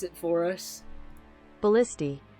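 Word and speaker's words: ballistae: up wait all right this is going to pronounce it for us ballisti it's ballisty what we're both right English is a really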